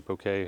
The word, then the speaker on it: bokeh: definitely is and the the bokeh is beautiful or bouquet however you pronounce it b o k e h the background blur or